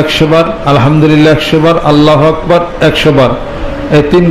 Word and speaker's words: আল্লাহ: দুই ঠোঁট একত্রিত করা যাবে না।